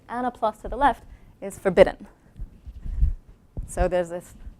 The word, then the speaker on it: Le: a plus to the left is forbidden. So there's this forbidden shape. This shape looks like a backwards L, and backwards L is pronounced le, and we write it like this, and so this is the terminology.